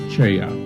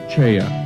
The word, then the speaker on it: Choi: founder of Hapkido, Grandmaster Cheya. His name is spelled as Choi in English, but pronounced Cheya in Korean.